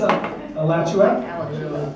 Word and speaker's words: Alachua: It's Alachua. Alachua. It's Spell that.